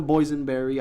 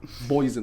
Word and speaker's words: boysenberry: Boysen, like poison but with a B. Okay. Boysenberry. It's spelled with a Y apparently. Boysen, like a boy.